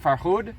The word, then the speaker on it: Farhud: My dad's going to speak a little bit about the experience of being in the Farhud. Am I saying it right? Farhud?